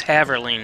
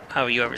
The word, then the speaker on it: Haverling: correcting how you say it's haverling not how you ever say it how do you say